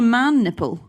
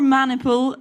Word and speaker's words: maniple: called by centurions no it was actually called a man nipple no what it's called or maniple but let's let's not mispronounced for Comic effect maniple maniple maniple is uh